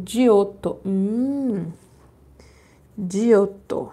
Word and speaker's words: Giotto: início da Renascença Olá pintor italiano né e eles pronunciam dioto um de outro é